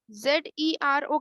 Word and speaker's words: zero: देखो बहुत से लोग ना इसको जे को जेड बोलते हैं, जी, और जी को बोलते हैं जे। जैसे कि आपकी बुक में भी एग्जाम्पल दिया हुआ है इसका, इसका प्रोनाउंसिएशन क्या होना चाहिए? ZERO का प्रोनाउंसिएशन क्या होना चाहिए? Zero. जीरो। Zero. लेकिन अगर आपने नोटिस किया हो तो बहुत से लोग इसको जीरो बोलते हैं।